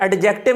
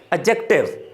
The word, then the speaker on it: adjective: अंदर एडजेक्टिव जो है, इसको एडजेक्टिव नहीं पढ़ना, एडजेक्टिव, डी इसमें साइलेंट है, कि एडजेक्टिव के बारे